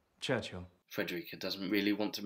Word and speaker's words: Churchill: he invites himself to Churchill Churchill that's how you say it all together like that Churchill oh well that explains